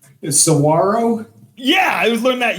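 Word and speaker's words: saguaro: Come to find out that's not pronounced saguarro. Sawarro.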